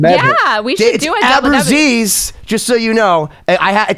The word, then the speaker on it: Abruzzese: How do you pronounce it again? Abruzzo? Abruzzese. It's Indian. Abruzzese.